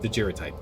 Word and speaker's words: daguerreotype: Hard G. Daguerreotype? It's like didgeridoos, but different. Daguerreotype.